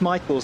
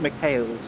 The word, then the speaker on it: Michaels: And while we're on the subject, my name's pronounced Michaels, not Michaels, or whatever I heard you say during my stint.